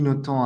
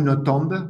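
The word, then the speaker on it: Nothomb: famille de diplomates et Amélie Noton a passé ou notombe je crois que les deux prononciations sont possibles elle a passé son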